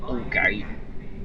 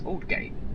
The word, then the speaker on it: Aldgate: Aldgate is Aldgate. Say it properly. Not Aldgate. It's Aldgate. Not so much a silent D, but you know.